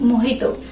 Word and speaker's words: mojito: Friends, kiwi मोहितो का spelling actually मोजिटो होता है, बट हम उसको प्रोनाउंस करते हैं मोहितो।